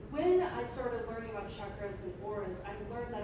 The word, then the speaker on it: chakras: completely shining today so chakras chakras is is pronounced chakras as in ch Norris as in ch Norris